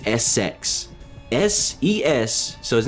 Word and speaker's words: Essex: by the name of Essex. Now, you're probably wondering, what kind of name is that? Everybody wonders that exact same process, that exact same thought. Why does he have a name that is Essex?